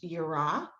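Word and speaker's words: יראה: feels like the fear that in hebrew is pronounced yura there's pahad is the kind of fear where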